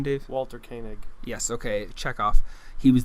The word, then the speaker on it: Walter Koenig: Walter Koenig.